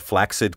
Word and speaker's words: flaccid: flaxseed correct you asked because the rule for pronouncing CC in a word says that the first C sounds like K the second like s together they create the sound of K s as in the name Jackson thus we say accident